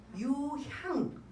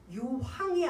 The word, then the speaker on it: 유향: 유 뭐예요 황 아니에요 우리 발음을 잘못해서 저도 옛날에 그 황이 아니고 내 황이 아니고 향이에요 유향 유황이 아니고 유향 이거는 신에게 바치는 제사를